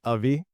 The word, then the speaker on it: Avi: that I do so right way to pronounce my name is actually ai ai yes AI like aligners kind of like a